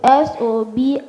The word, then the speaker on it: sobriquet: S-O-B-R-I-Q-U-E-T. Subricate. Correct. The pronunciation for the word is sobriquet.